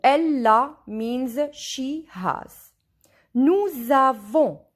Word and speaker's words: nous avons: Nous avons. Here S and A, when we join them, we listen Z.